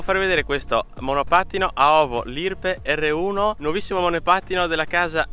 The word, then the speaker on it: Lirpe: Oltre ad avere il LED anteriore con scritto Lirpe, lo pronuncio Lirpe, poi è super italianizzato, a meno così non